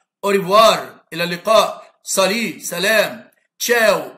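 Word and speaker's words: ciao: إلى اللقاء، سالي سلام، تشاو إلى اللقاء تنطق تشاو لأن كلمة إيطالي، بون جورني بون جورني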